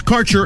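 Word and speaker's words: Kaercher: Your connection to quality cannabis insurance services is spelled K A E R C H E R. That's Carter Insurance.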